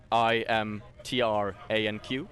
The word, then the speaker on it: Imtranq: The word IMTRANQ. Because I thought it was K at first. It's not. No, it's Imtrank. a Q. Imtranq.